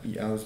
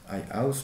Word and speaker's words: i-house: l'exemple japonais de la e-house de l'atelier Hitoshi Abe, i-house pour le prononcer justement.